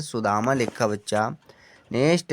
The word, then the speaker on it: सुदामा: Next है SUDAMA पढ़ेंगे हम सुदामा। एस से छोटा सा लिया, यू से छोटे ऊ की मात्रा, डी से दा लिया, ए का मतलब बड़े आ की मात्रा, एम से माँ और ए का मतलब बड़े आ की मात्रा।